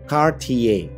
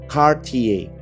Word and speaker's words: Cartier: Biasanya disebut oleh orang-orang Indonesia sesimpel dibaca Cartier. Ternyata seharusnya adalah Cartier. Gue ulang, Cartier.